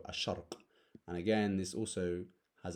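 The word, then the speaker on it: الشرق: letter a shark again Sheen is also a sun letter so we don't go al-shark we go a shark and again this also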